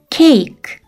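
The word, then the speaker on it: cake: 맨 뒤에이가 붙는 단어들이에요 그런데 맨 뒤에 오는이는 발음이 나지 않아요 그래서 장모음 a와 2가 오고 그 앞에 자음이 각각 하나씩 와요 이렇게 장몸 단어가 만들어져요 여기에서 장몸 애인은 어떤 발음이 났었죠 맞아요 a 발음이 났어요 2는 발음이 나지 않는다고 했었죠이 단어를 한 번에 읽으면 케이크 케이크라는 단어가 돼요 이번에는 장모음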